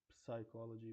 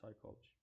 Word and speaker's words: psychology: We don't say psychology, we just say psychology.